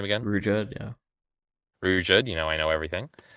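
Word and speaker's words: Ruijerd: Rujerd, yeah.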